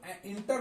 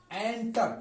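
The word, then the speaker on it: enter: एंटर, इसे इंटर लोग पढ़ते हैं, इंटर नहीं होता है, एंटर।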